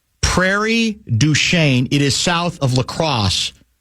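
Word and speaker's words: Prairie du Chien: Um uh it's pronounced Prairie Duchain. Prairie Duchain.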